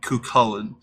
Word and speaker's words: Cuchuillain: I think it'd be hilarious but the actual pronunciation would be kullin but uh yeah that doesn't really shorten down